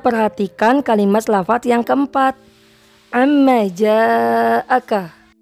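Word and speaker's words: عما جاءك: Selanjutnya perhatikan kalimat lafaz yang keempat, amma ja'aka. Huruf yang berwarna biru terhukumi mad wajib muttasil. Kenapa? Karena antara mad dan hamzah bertemu dalam satu kalimat atau dalam lafaz yang sama. Dibacanya panjang 5 harakat. Amma ja'aka.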